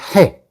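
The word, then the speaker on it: ה: 해. 해이라고 하지만 실제 해입니다. 해.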